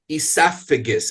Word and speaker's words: esophagus: middle of the word esophagus and even though it's spelled with a pH that reminds me of the F sound in the word food and that's how I